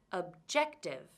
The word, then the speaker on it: objective: word have objective 3 can you hear which syllable is stressed objective it's the second syllable now let's change the